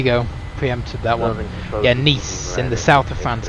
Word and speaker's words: Nice: Yeah, Nice, in the south of France, I think. It's spelled like nice. Voiceover pronounced it as nice.